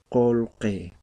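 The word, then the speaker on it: qullqi: Entonces, colque, que está escrito, la correcta pronunciación es colque, ¿sí? Como si fuera vocal O y como si fuera vocal E, pero en la escritura va a seguir de esta forma.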